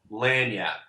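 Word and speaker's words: lagniappe: sure so if you it's it's hard to pronounce and even more difficult to spell but I tell people if phonetically it would be l n y a p app lamb app okay lanap is a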